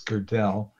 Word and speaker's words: Girdell: Oh, so I should actually, the pronunciation is Girdell. The girdle I've gotten over since, it was only really tough in middle school when I had a teacher who throughout the year never got the pronunciation right of Girdell.